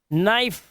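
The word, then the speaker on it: knife: एक साथ आते हैं तो के साइलेंट हो जाता है। जैसे इसे पढ़ेंगे नो, नाइफ, नोट, नी, नी, है ना।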